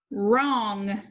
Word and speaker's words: wrong: one has ghost letter digraph wr underline the digraph cross out the w the o needs a brevi it is short and underline digraph ng can you read number one wrong wrong number two has